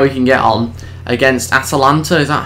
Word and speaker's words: Atalanta: But anyway, let's see how we can get on against Atalanta. Is that how you pronounce it? I've been saying Atlanta, but it's Atalanta. I was missing an A.